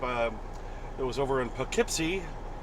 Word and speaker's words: Poughkeepsie: it was over in Poughkeepsie even though it's spelled p-o-u-g-h-k-e-e-p-s-i-e Powell keepsey Poughkeepsie at an IBM a